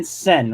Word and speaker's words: Sehn: You're Dan Sehn, right? S-E-N. That's correct. The H is silent.